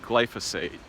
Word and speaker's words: glyphosate: mispronounced glice if a I think it's actually pronounced glyphosate and it isn't from